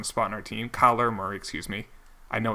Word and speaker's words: Kyler Murray: Still, Kyle Murray, I don't think was going to find a spot in our team. Kyler Murray, excuse me.